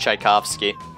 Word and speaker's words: Tchaikovsky: what they knew I'm it's pronounced Tchaikovsky yeah I don't give a